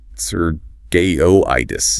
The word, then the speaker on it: circuitous: Stress on the second syllable. The first C is like S, and that Q is like circuitous.